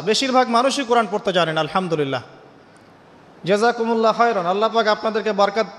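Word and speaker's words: الحمد لله: আপনি পড়ছেন আল্লাহু আকবার, আলহামদুলিল্লাহি রাব্বিল আলামিন, এই তো আপনি পড়ছেন আলহামদুলিল্লাহ।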